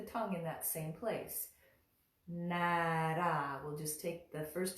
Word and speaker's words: Nārāyaṇāya: Nara. We'll just take the first two syllables there.